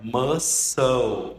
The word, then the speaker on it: muscle: E na verdade não é muscle car, é muscle, né? Não lê o C ali, muscle car.